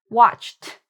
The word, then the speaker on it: watched: Watched, watched. Okay, so this is actually the t sound.